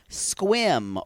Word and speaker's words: Sequim: is sequence sequins uh it's spelled s-q-s-e-q-u-i-n but he says it Sequim Washington y'all it is